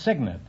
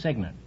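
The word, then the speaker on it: cygnet: yes is that all right what is the correct word meaning a baby swan baby no it's signet it's spelled c-y-g-n-e-t but it's pronounced signet well you uh still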